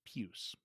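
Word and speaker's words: puce: newspaper cliche that these puss pops they're called puss pops juice it's spelled p-u-c-e yes so i'll give you a little bit of a pass but it's pews okay fine pews pops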